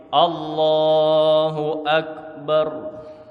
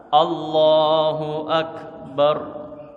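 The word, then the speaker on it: الله أكبر: Yang poin D, dengan pengucapan huruf dan panjang pendek yang benar. Nah ini. Yang benar kayak gini saya contohin. Allahu Akbar. Saya ulang. Allahu Akbar.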